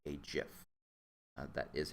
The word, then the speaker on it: GIF: simple animation called a gif uh that is how it's pronounced the G is pronounced like A J don't get me started